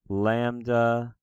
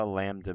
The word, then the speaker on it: lambda: Lambda like an L.